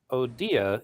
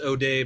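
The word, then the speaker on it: O'Dea: Yeah, his name is pronounced O'Day, by the way. Okay. And no, I didn't vote for Joe O'Day.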